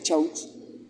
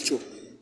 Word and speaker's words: Chaux: Les recuerdo, mi apellido se pronuncia Chaux en Colombia, en España. Pero si estoy en Francia me van a decir Cho. Y si me voy para Estados Unidos, soy Cheyo.